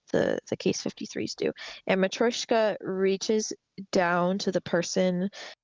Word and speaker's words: Matryoshka: I've always heard it without the Y being pronounced very much. But like Mm-hmm. Matryoshka, I think is like my really bad American accent version of saying it is Matryoshka.